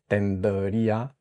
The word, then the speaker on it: tendría: D, and then go into the tapped R, put a little space between the D and the R, and it helps. Tendría, and then gradually you move it closer until you get the actual pronunciation, tendría.